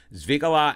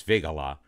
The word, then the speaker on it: Figala: with Klein Hansel Papadopoulos zvigala and pedalski yes I learned how to actually pronounce his name it's figala a reader at the